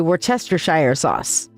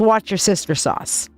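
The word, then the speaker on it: Worcestershire: I And that is actually literally how it's supposed to be pronounced. I researched it and practiced it and practiced it and practiced it until I could say we're tester sauce. My sister says it's watch your sister sauce.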